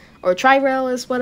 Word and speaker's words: Tri-Rail: is telling me if he wants to do tree rail. Or tri-rail is what how I was supposed to pronounce it.